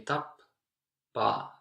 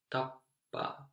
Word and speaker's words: tappaa: So you take very little, or you take a little break between when you say tappaa, tappaa. And native speakers will leave it very short, but I recommend that you take a little break between those, because then later on it